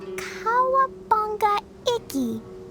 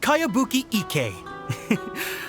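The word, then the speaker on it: Kayabuki Ikkei: heard of it by cowabunga icky your mia this is a really strange name who's this cowabunga it's pronounced kayabuki ek that would be me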